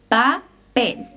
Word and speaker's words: papel: La P en español no es tan explosiva como en inglés. No hay puff of air. Por ejemplo, papel. No es papel, es papel.